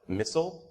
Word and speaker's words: MISL: I'm a part of the Mobile Iron Security Lab, so the acronym of MISL is affectionately pronounced MISSILE, which I think is a pretty cool name. So we just call it MISSILE.